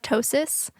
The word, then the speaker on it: ptosis: Also, if you're looking at my eye right now in these YouTube videos, I have ptosis, which is spelled Ptosis, induced from Botox, which happened to me last year as well.